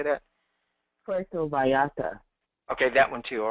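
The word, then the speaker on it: Puerto Vallarta: that place in Mexico how how do you pronounce it P pora how do you say that PTO Vata okay that one too all right um I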